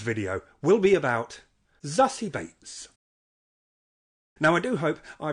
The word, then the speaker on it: Beetz: ran with it and the surname is beats but with an american accent on it so the double e kind of ends up sounding a bit a baits bakes dates